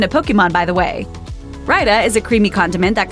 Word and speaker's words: raita: It's only 2 syllables, and the AI diphthong creates a long I sound. Remember that, and you're sure to get it Raita.